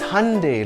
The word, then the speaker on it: Hyundai: It's Hyundai, like Sunday.